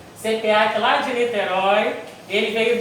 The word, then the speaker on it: CEPEAK: Hoje nossa palestra vai ser com o nosso querido amigo Alfredo Conceição, que ele vem lá da casa CPAC, se pronuncia assim mesmo, CPAC lá de Niterói.